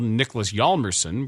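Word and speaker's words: Niklas Hjalmarsson: Hawk name of all Nicholas yerson where the H is silent a few minutes later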